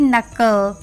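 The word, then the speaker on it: knuckle: knowledge के एन यू सी के एल ई नकल के एन आई सी के ई आर एस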